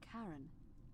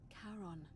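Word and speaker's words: Charon: it's just as you described it only your pronunciation is a little off the name you heard wasn't karen it was c o n as in caron the ferryman of the dead who in exchange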